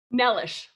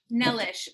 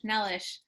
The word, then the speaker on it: Nelas: that right which is nellis nellish okay apologies i only know this because i've heard it said enough times it's not because i actually speak okay rhymes with delish nellish um which makes sense